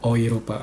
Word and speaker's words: Europa: I misalnya Europe Euro Europa misalnya dibaca nya oiropa atau misalnya euro mata uangnya e U R O ini dibacanya jadi oiro oiro.